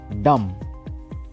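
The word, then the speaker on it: dumb: চার নাম্বারে কি আছে ডাম ডি ইউ এমবি এখানে বি টা সাইলেন্ট তাহলে কি হবে ডাম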